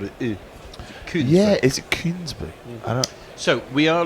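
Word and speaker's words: Kuenssberg: How do you actually pronounce her surname? Because I've never really. I've seen it written so often. Koonsberg.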